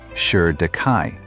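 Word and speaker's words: Shi Dakai: And Shu Dai pronounced Shir Dai, the shield king.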